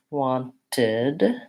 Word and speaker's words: wanted: element and then lastly when I add Edie to verbs that end in a t sound or a D sound I end up with the syllable in so for example I can't say what and then add a T or D without adding another sound so wanted looks like